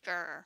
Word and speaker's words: ger: I thought it stood for something. I'm like, oh, GER stands for something. So it's actually GER.